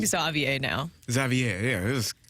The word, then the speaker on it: Xavier: the way according to baseball reference he does pronounce his name Xavier I I put that on there for this